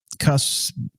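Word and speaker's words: Cush: And Cuss, it's pronounced Cuss in here, but it's Kush, however you want to pronounce it.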